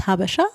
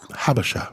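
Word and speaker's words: Habesha: Um the habasha, it's called, it's pronounced habasha. Habasha.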